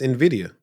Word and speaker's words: Nvidia: Nvidia that's how you say it no it's Nvidia oh cool so there was an article that came out say hey if you've been saying Nvidia you've been saying it wrong because Nvidia but